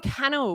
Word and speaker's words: Cannell: Sean Cannell, which does rhyme with YouTube channel.